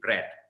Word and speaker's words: bread: Okay, so no, it's actually bread. Okay, a very strong, sharp pronunciation. One syllable only, bread.